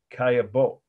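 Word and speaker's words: Caillebotte: paris a rainy day the artist's name is kaya bo that's how you pronounce it roughly in in french so it's spelled c-a-l-l-e b-o-t-t-e and the date is 1877.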